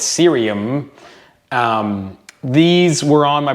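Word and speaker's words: Ksyrium: of M hav uh apparently the K is silent according to the Internet so it's serium um these were on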